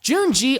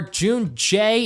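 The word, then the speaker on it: Junjie: Junji, or Junjay, if you pronounce it how they pronounce it, isn't really adding anything significant to the story.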